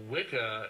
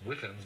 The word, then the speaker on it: Wicca: Well, Wicca, it's actually the it's pronounced Witcher, really. It's the old Anglo-Saxon word that means bent or twisted originally, but it's the origin of our word witch.